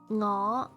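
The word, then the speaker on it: 我: NG is like the one in sing. This is what I taught you before. Ngọ. You mean like fuck up voice? Yeah, similar. Ngọ, which me or I.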